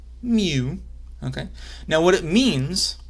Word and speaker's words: mu: called mu that it's a Greek letter mu pronounced mu okay now what it means what mu is